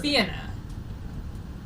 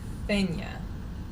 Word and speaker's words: Fianna: Fianna. Accent on the first syllable. And then Scots Gaelic Fenya.